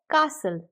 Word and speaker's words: castle: Basically इसमें टी की pronunciation नहीं होती है। ये इसलिए क्योंकि जब लास्ट में किसी वर्ड के टीएल आता है तो उसकी प्रोनाउंसिएशन टल नहीं होती है, अल हो जाती है, यूएल। तो इसीलिए ये हो जाता है कासल।